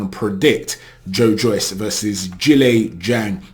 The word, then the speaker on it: Zhilei Zhang: predict Joe Joyce versus Julie Zhang I was calling him zilizang and then Edward Welsh commented on my last video thank you Edward for correcting me on the pronunciation I hope I get